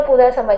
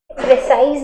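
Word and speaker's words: précis: आप लोग बस ये समझो कि प्रेसी राइटिंग का लास्ट वाला जो एस है ये साइलेंट है, प्रेसाइज नहीं बोलना, प्रेसिस नहीं बोलना, प्रेसी आई पे रुक जाना, ठीक।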